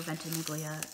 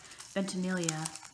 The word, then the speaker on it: Ventimiglia: But I was thinking about This Is Us and Milo Ventimiglia. No, I said it wrong. Ventimiglia, and that just brought back the Golden Girl feels.